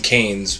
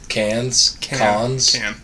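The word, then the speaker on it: Cannes: It did, like in Canes, but Cans. I mispronounce that every single podcast.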